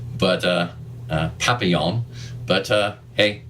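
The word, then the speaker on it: Papillion: unfortunately pronounced uh uh papalian uh Nebraska not the French pronunciation unfortunately but uh uh Papillon but uh hey it's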